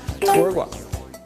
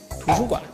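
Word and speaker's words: 图书馆: Tu - ren - gua Library! (Tu - shu - guan) Lao - ri - hao Wait, no!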